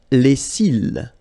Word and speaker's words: cils: Les cils. Les cils. Final S not pronounced.